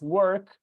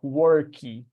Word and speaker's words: work: So you take a word such as work, probably they're going to pronounce something like worky.